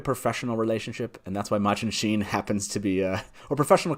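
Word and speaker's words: Machin Shin: We have the interaction with Machin Sheen, as we found that it's pronounced.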